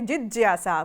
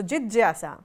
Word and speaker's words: जिज्ञासा: Original pronunciation would be जिज्ञासा because the ज्या is formed by ज एंड या. So jigyasa is the original word, original pronunciation.